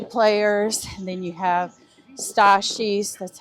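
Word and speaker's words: Stassie: You have a lot of the hockey players, and then you have Stashi's, that's how you say her name for short, Stashi's friends.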